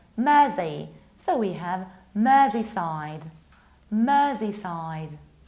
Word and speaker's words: Mersey: It's not mercy, like I'm begging you for mercy. We pronounce it like Mersey.